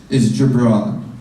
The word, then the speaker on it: Gibran: Yeah, and my name is Gibran, by the way. It's spelled with a G, like Jonathan.